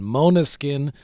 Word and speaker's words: Måneskin: Måneskin, which is Danish for moonlight, because their bass